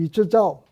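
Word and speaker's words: 李之藻: 하나는 우리말로 해서 서광계, 그 다음에 또 한 사람은 이지조, 그 다음에 또 한 사람은 양정균, 이 중국말로는 쉬광치, 그 다음에 리쩌자오, 그 다음에 양팅쥔 이렇게 발음이 되는데 이 세 사람하고 사귀는 계기가 되었습니다.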